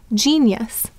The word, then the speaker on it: genius: So the I has four sounds, I, I, E, ya. And here it's saying it's E sound. And then we have us, genius. So that is why genius is spelled in that manner.